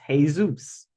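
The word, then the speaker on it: Jesús: do that okay then how do you say Jesus in Spanish Zeus hey Zeus hey Zeus heus Jes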